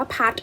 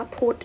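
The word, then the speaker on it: put: มี บาง คำ เช่น คำ ว่า พียูที เรา ไม่ อ่าน ว่า พัด นะ จะ คำ นี้ อ่าน ว่า พุธ นะ คะ ซึ่ง บาง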